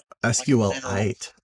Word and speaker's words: SQLite: Is it sequel or is it SQL? The classic developer. I I pronounce it SQ SQL it. SQL it.